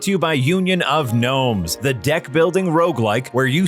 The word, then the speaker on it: Gnomes: You know, because in Union of Gnomes, the G is silent.